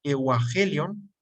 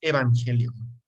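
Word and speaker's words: εὐαγγέλιον: la letra V, y cuando hay dos gamas juntas, que es la G, pues en realidad la primera G cambia por una N y se pronuncia evangelion.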